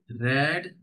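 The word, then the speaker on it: read: तो वही रहती है आर ई ए डी लेकिन रीड रेड रेड प्रोनंसिएशन होता है रीड रेड रेड है ना तो आई हैव गॉट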